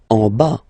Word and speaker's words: en bas: En bas, final S not pronounced.